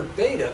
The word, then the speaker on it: beta: It has a polar beta. Beta rhymes with theta, our usual designation of that angle, with a cosine here and two sines.